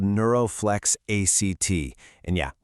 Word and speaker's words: ACT: Well, that guide is called Neuroflex ACT. And yeah, we pronounce it ACT like in a play.